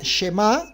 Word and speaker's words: Shema: Entonces ahora vámonos con la palabra Shema, que otros lo pronuncian Shema.